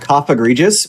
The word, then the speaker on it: Cofagrigus: I call it Cough Egregious because I think that is far better than what I say. It rhymes with egregious in my mind, and it just feels right.